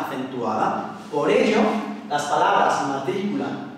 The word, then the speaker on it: matrícula: Pues aquí tenemos dos ejemplos, matrícula y rápido. Y como podemos ver, la sílaba fuerte o sílaba tónica es la antepenúltima, matrícula y rápido.